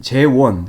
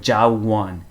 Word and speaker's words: 재원: 제 이름은 재원, 발음이 비교적 쉽다고 생각하는데도 어떤 경우에냐면 재원을 무슨 어떻게 발음하냐면 뭐 자원, 이렇게 I 발음은 어렵습니다.